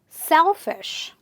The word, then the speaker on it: selfish: Words ending with ISH, same rule. Selfish. Not selfish, selfish.